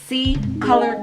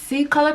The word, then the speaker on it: Ccolor: Okay, so Ccolor Cosmetics is 100% paraben and cruelty free company. They're pronounced C as in S-E-E, but it is spelled C, the letter C, color.